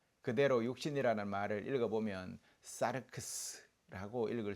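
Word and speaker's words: σάρξ: 그대로 육신이라는 말을 읽어 보면 사르크스라고 읽을 수 있습니다.이 이 사르크스라는 말은 우아한 인간의 몸을 뜻하는 단어가 아닙니다.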